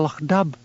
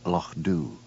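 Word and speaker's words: Loch Dubh: What has happened to Lo Dub? She demanded. Lo corrected Hamish gently. It's pronounced Lo Doo.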